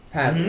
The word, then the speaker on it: Pasley: Pasley apparently. Is that how it's pronounced? Pasley. Yeah. I've been calling you Paisley.